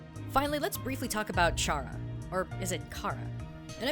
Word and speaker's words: Chara: But consider this, if we were to call Chara, with the H being silent like the word chaos, the thing that Chara loves to bring, then their name takes on a completely new meaning.